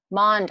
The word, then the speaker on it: Maund: tell me how to say your last name monde i was going to say it right but